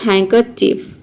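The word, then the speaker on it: handkerchief: चलिए, तो ये हो गया हैंकरचीफ, हैंग। इसमें हैंड को हम प्रोनाउंस करने हैं हैन, HAN, हैंड, डी साइलेंट है।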